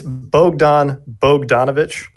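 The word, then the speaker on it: Bogdan Bogdanović: who's been getting on me about it it's Bogdan Bogdanovich actually pretty much it improperly yeah I gave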